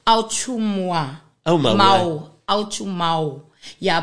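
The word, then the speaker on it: Autshumao: Yeah, because in Khoisan, remember, with the language, when it comes to vowels, when it's diphthongs, you have to pronounce each vowel individually. Oh, okay. So, yeah, his surname is Au Chu Mau.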